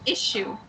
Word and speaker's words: issue: okay it's okay so it's like an eye and then shoe that you wear on your foot so shoe and so yeah issue thank you shoe yes